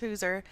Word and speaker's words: Hauser: It's spelled Hauser, pronounced Hooser.